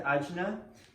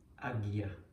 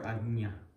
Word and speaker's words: ajna: But to get back to ajna, it would be more like the way that I'm going to show you is more like agya or agnya, like that, as opposed to ajna. So more like agnya or agya.